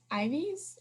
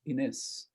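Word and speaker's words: Inés: And then we find out her name is Ives. I think that's how you say it. Ines. Well, in Spanish, you go Ines.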